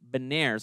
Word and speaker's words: Beniers: with my personal favorite at number four, Matthew Beniers. I think that's how you pronounce it. It's Beniers, yeah.